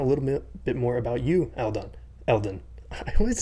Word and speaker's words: Eldon: A lot of people do, because when you separate the word, it's eld on, Oh, like right? break it down So into syllables. Okay. Yeah. right. So I get that, but it is Eldon, but it is all good.